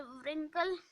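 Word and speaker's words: wrinkle: Ping भी correct है, व्रिंकल नहीं, डब्ल्यू है साइलेंट है, और रिगल में डब्ल्यू भी है साइलेंट लेटर, और राइट में डब्ल्यू है साइलेंट लेटर।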